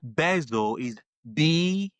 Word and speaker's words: Bessel van der Kolk: Bessel is Bessel. Okay. Bezel. Van, VAN, the DER, Okay. and then Kolk, KOLK.